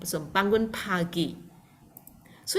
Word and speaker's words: bangun: So if you can see here, B-A-N, bang, we pronounce as bang, and then G-U-N, we pronounce as gun. So bangun pagi.